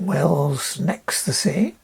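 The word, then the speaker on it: Wells-next-the-Sea: see if you if you go out to Wells next to the Sea how it's pronounced Wells next the sea this is the east coast of the England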